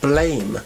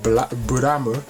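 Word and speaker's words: Blame!: And yes, I do know that it's supposed to be pronounced Buramu. Buramu, I believe, is the correct pronunciation, but I'm calling it Blame because it's spelled blame.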